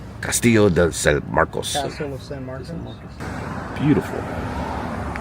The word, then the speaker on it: Castillo de San Marcos: Castillo de San Marcos. Castillo de San Marcos.